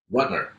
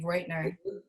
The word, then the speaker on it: Rutner: Rutner, but it's Rutner. Yeah, I say it wrong all the time. I think I say it Reut, like Reutner. Reutner.